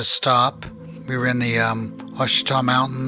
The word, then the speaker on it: Ouachita: Well, not real young, but I was around 15 years old in the Ouachita Mountains. I think you might actually pronounce them Ouachita Mountains in Oklahoma, on the Oklahoma-Arkansas border.